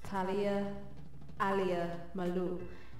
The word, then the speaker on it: Talia Malou: Okay, so here we have Miss Talia Malou, and you gotta kind of say it like that.